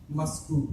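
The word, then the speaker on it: マスク: Masuku itu masku gitu ya.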